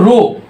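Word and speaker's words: ρ: ভাই এটার নাম হচ্ছে রো। এ নাম হচ্ছে রো। এই রো হচ্ছে ঘনত্ব। রো হচ্ছে ঘনত্ব। আমি উচ্চারণটা নিচে একটু ছোট অক্ষরে লিখে দিলাম। এটা হচ্ছে রকারে রো হচ্ছে ঘনত্ব।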